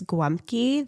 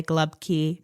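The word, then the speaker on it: gołąbki: Then, of course, we have, I'm not going to say it right, goblaki. No, that's okay. So it's guamki. That's Polish. Yeah. Now, Pittsburgh will say glubki. Yes. And then I think people from Croatia say halubki.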